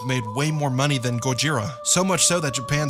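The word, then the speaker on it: ゴジラ: just Godzilla either have you heard how they pronounce his name in Japan Godzilla that's right it's still goira they never stopped calling him that and repainted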